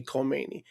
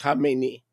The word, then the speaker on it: Khamenei: They say Khomeini. That's not Khomeini. Khomeini is the guy that he succeeded. Okay, it's Khamenei. Americans see a K and they go Khomeini.